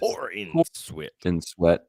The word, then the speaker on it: Corenswet: David Corenswet, pronounced Corenswet. Oh, I said it right.